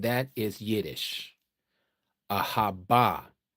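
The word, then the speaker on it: אהבה: Ahava is not the pronunciation. That is Yiddish. Ahaba. Ahaba is the true pronunciation.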